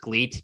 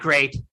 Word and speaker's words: GLEAT: But listen, they're gonna spell it with an L.